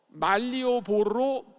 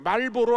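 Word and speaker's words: Malioboro: 지금 이 보이는 거리가 족자의 가장 중심 도시인데 이 중심 도시 이름이 말리오보로 거리예요. 말리오보로. 말보로 아니에요. 어떤 사람은 말보로 거리라고 하는데 말보로 아니고 말리오보로 거리입니다.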